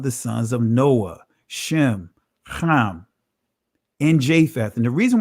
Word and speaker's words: Ham: the prefix when actually the actual pronunciation of noah's son is not ham it's kam right i'll say it